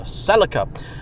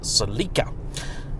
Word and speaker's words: Celica: Toyota Celica tt4 or as they call it here the Celica no we do not call it the Celica back home that is why I pronounce it salika and the indicator stalks